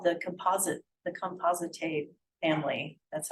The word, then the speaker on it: Compositae: So you have a composite of like hundreds of flowers, and that used to be called the Compositae family. That's how you pronounce it.